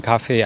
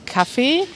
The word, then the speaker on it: Kaffee: auf der terrasse zu hause ich trinke meinen kaffee am liebsten am laptop egal wo er ist